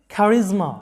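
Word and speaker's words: charisma: খ্যারিজমা, অনন্য সাধারণ প্রতিভা, খ্যারিজমা, এটার উচ্চারণটা হবে খ্যারিজমা, এরকম খ্যারিজমা, যেটার বাংলা অর্থটা হচ্ছে অনন্য সাধারণ প্রতিভা।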